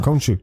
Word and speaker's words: Khonshu: I looked up how to pronounce it. So I'm good now. Khonshu.